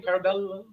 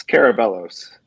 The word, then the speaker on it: Carabellos: Jeff How do you say your name? Carabello? It's Carabellos. Carabellos and David Chavez and crew, and welcome to the Bucket Guys show.